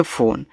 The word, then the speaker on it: phone: PHONE इसे पढ़ते हैं फोन, तो पीठ से आपका फा, ओ से ओ की मात्रा फो, यन से आपका ना, इस ई का उच्चारण नहीं कहना है क्योंकि फ़ोन आपका एक इंग्लिश वर्ड है।